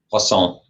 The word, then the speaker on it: Poisson: Poisson.